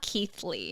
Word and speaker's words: Keithley: The 2 that I have, one is Zana Keithley, and it's spelled like Zanna and then Keith Lee, Ley.